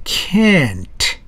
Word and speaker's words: can't: 앞에 있는 단어는 just can 정도로 약하게 발음해 주는 거야. Can you do that? Sure, I can do that. 그런 정도로. 뒤에는 강한 can't입니다. Can you do that? No, I can't. 그렇게 발음하는 거야.